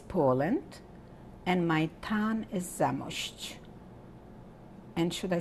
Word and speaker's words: Zamość: My country is Poland and my town is Zamość. And should I spell it?